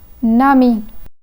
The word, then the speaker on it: ami: When the word ami is isolated and read separately, it is pronounced as ami. But since it follows the word un, the liaison changes the pronunciation from ami to nami.